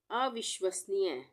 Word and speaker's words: अविश्वसनीय: अविश्वसनीय, अविश्वसनीय। इसको कैसे पढ़ेंगे? अ हम अलग ले लेते हैं, उसके बाद विश, उसके बाद वसनीय, अविश्वसनीय, अविश्वसनीय।